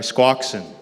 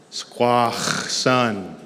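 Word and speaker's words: Squaxin: Um, Squawken is a English inflection on how to say the name of our tribe. Uh, where we are located here. We Squawk. We are Squawksen. The the non-English or or the more accurate pronunciation is squash. Squash sun. Squash sun.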